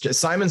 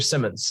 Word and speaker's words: Simons: we've got um Josh Simons and with us Simon's or Simmons I'll make sure I'm pronouncing your name right oh it's Simon's but assignments Seth that's